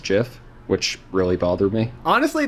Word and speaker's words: GIF: nope nope spider dot gift indeed the greatest gift in the world you know i i don't